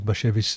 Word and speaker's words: Bashevis: It's Bashevis. And it's not hashish.